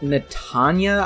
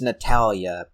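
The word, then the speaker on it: Natalya: the first level with natanya i think she's called okay actually her name is natalia natalia i suck at pronunciation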